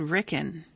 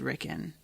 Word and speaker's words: Rickon: character on the podcast i think i said ricken um i don't really remember now that you were talking about it but you know what maybe i always pronounce it rickon because i watched season